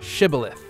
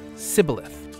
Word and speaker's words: Shibboleth: They said unto him, Then say Shibboleth. And he said Sibboleth, for he could not frame to pronounce it right.